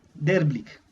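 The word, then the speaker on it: Therblig: Se escribe T-H-E-R, B-L-I-G, Derblick.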